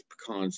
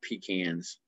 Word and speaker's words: pecan: Yes, it's pecans, not pecans. Okay. If you're going to be down south, you got to say it right.